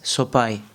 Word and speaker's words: Sopaj: so people were confused it's soai in Albania the J uh in the end it's like I soai so the J belongs